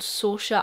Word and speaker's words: Saoirse: back to somewhere called Saoirse Island. I think it's pronounced that way. It's spelled the way a famous actress's name is spelled, and I'm pretty sure her name is Saoirse.